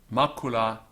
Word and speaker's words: macula: here's our example Mikula Markkula is a feminine word it's a spot the letter C in classical Latin is always pronounced hard like a K Markkula so ma c